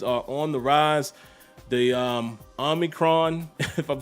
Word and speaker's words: Omicron: I know out there in the community, people are calling it the Omarion. I'm like, that is crazy. But the Omicron, I believe that's how you say it.